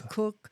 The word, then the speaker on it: Koch: These people were Soros Cotch that's ko h I don't know how you pronounce that cotch or cook. It's cotch and Rockefeller and Ford.